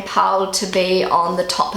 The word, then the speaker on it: Paul: Okay, so the second most popular baby name in Germany right now is Paul. So in Germany, they pronounce it Paul, and in English we say Paul.